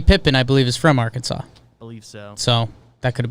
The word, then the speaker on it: Arkansas: are you guys doing you put a and R in front of Kansas but it's pronounced Arkansas it's a tough language